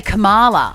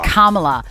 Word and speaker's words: Kamala: say it Kam Kamala Kamala harrisa Harris I always stuff that up as well she's a queen though cuz I want to say Cala but it's not right Kamala um I would vote